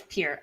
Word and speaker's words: Peart: have yes, it is Peart. I'm pretty sure. So to be fair, there's a legendary drummer with that same name, so I have to remember that it's pronounced differently than the Rush drummers.